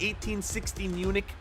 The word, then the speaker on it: 1860 Munich: 1860 Munich is the proper pronunciation of this club.